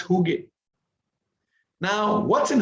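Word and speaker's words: hygge: of such best practices is is the the huge way of creating a workplace it's it's from scandinavia right it's from denmark it's called h-y-g-g-e and it's pronounced huge now what's in huge kind of workplace a huge kind of workplace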